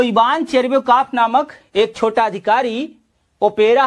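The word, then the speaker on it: Tcherviakoff: Ivan चेरबियोकॉफ, इसमें T silent है, ध्यान रखिएगा। CHER चेर, VIA विया और KOFF मतलब कॉफ।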